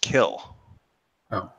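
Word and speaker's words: Kiln: n but it's pronounced kill o the N is silent just to not mistake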